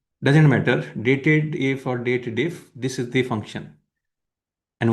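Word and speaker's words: DATEDIF: The formula is date diff date diff. Many people call it dated if but that's not the correct uh like pronunciation in my opinion because the formula is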